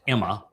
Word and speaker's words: Amma: And the most common title is uh amma and amma is actually should be pronounced Emma.